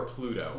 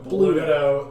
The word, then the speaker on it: Bluto: Bluto or Pluto? Bluto. the town. Pluto, but with a B instead of a P.